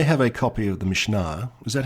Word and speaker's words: Mishnah: I have a copy of the Mishnah. Is that how you pronounce it? Yeah, the Mishnah.